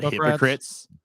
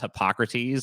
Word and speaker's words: Hippocrates: friend matt was like did you know there was actually a greek philosopher called hypocrites and we were like that dude's that's pronounced hippocrates and he wasn't a